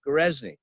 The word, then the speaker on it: Goreczny: is my last name it's a good easy name gerezni just pronounced it spelled just as is pronounced it's my last name